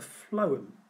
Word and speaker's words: phloem: So I go off the F sound, the phloem carries food, even though it's spelled with a P and an H.